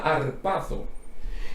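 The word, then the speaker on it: harpazo: que viene de un verbo griego que se pronuncia arpazo y ese verbo griego lo que significa es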